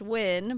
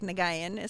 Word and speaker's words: Nguyen: then my last name it's pronounced win but it looks like nagayan so it's n-g-u-y-e-n so just first and